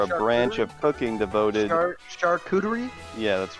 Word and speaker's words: charcuterie: Did you hear about this Twitter controversy about the person who posted their lunch that's on a Karuchi board?